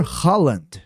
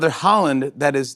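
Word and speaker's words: Haaland: Porque o sobrenome do jogador tem uma pronúncia muito parecida, quase que idêntica, do Tom Holland.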